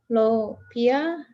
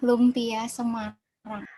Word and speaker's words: Lumpia Semarang: We have Intan with the food is about how to pronounce this. Lopia. Intan, how to pronounce this? Sorry, ma'am. Lumpia Semarang.